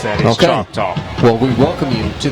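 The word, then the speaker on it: Choctaw: came in from Arizona I want to say it's chock talk c h o c t a w I've never been to Arizona so I don't know my accent my dialect that is chalk talk because there's a chalk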